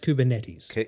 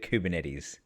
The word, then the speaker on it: Kubernetes: with a minimum 12 plus years experience in kuben Nate's administration and management have I said that right sir so you pronounced kubernetes kubernetes all that all the programmer listeners just went